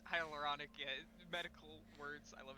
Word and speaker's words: hyaluronic: that was way too many syllables. Thank you, Neil. You're good. It's hyaluronic.